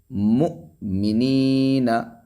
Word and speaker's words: مؤمنین: مؤمنین حمزہ ساکنہ پہ جھٹکے سے.